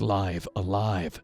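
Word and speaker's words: Live A Live: as episodic, there was Live Alive. I am pronouncing that correctly, by the way. I made sure I looked exactly at the katakana under the name on the Japanese box.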